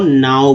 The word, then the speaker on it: know: अगर यहाँ पर लिख देते हैं KNOW, देखिए KNW लिख दे हैं तो क्या बोलते हैं, यहाँ पर उच्चारण नो हो जाता है।